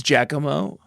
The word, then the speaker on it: Giacomo: It's Giacomo.